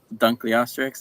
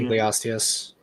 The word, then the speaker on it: Dunkleosteus: Took inspiration from like Dunkleosteryx, I think it's how you pronounce it. Yeah, Osteus. Dunkleosteus.